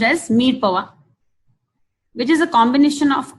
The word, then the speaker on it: mirepoix: It is pronounced as mirepoix, which is a combination of onion, carrots, and celery.